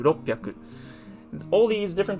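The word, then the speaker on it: 六百: Like for example, with roku, if we want to say 600, it would not be rokuhyaku, but it would be merged together into roppyaku.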